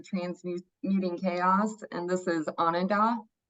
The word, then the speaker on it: Ananda: a it's a yeah on and up it means Bliss in Sanskrit but it's a this vowel sounds a little funny in English I've tried saying it